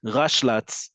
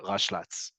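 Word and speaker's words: ראשל״צ: You can either say Rishon, the whole thing, or you'll also hear Rashlatz, right? You're just reading the abbreviation as a word.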